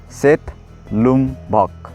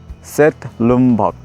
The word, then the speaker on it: Setlum-bhak: In Limbu language we call it Setlum-bhak. Would you like to pronounce? Please follow me. Setlum-bhak. Setlum-bhak.